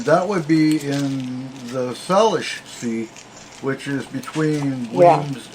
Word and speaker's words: Salish: But yeah, the Salish. Am I saying it right? Salish Sea. Yeah, Salish Sea.